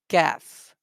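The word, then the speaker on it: ك: the correct pronunciation of calf right off is heavy later and calf is light and soft letter i hope i made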